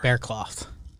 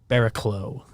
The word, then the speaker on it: Barraclough: the screen and said, how do you think this name is pronounced? And the room went 0 for 4. Bearcloth. Bearclaw. It's the most popular. Barraclough. Barraclough. Is how Sterling went for.